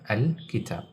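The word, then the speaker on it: الكتاب: This is one of the letters of al-Qamariya, al-kitab. If this word is in the beginning of the sentence, we pronounce this alif with the hamza. We read it as al-kitab, al-kitab.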